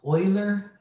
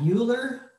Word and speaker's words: Euler: by a mathematician called euler yes this is pronounced euler not euler it's euler's number and that's where we get